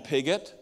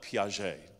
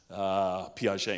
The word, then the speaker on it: Piaget: So we called him Pigott, and we thought, that's cool. He's got pig in his name, farm kids. It turns out it's more like Piaget. I don't know if I said it right or not.